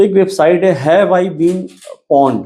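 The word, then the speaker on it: pwned: तो एक website have I been पोंड पोंड में मतलब उसकी स्पेलिंग है पे नहीं पी डब्ल्यू एन ई डी पोंड actually compromised ये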